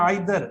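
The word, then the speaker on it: either: और ये नीदर हम क्यों नहीं इस्तेमाल करते, क्योंकि नीदर और दूसरा है ईदर या आइदर, बेटा दोनों प्रोनाउंसिएशन है, नाइदर भी पढ़ते हैं और आइदर भी पढ़ते हैं, नीदर भी पढ़ते हैं और इधर भी पढ़ते हैं।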